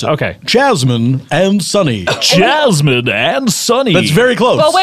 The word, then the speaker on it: Jasmine: of course we have chasmine and sunny am I saying those correctly chasmine no you've been mispronouncing them the whole time you my name is wrong too it's a very subtle difference oh what is it